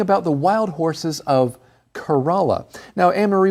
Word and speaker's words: Kerala: Now, Anne-Marie, when you see this name Kerala, do you want to say Kerala or Corolla? I definitely want to say Corolla. If I just saw this word printed, I would absolutely pronounce it that way. Corolla, right? Corolla. Yeah, that's what I thought as well, but I heard that the locals pronounce it Kerala, and so that's what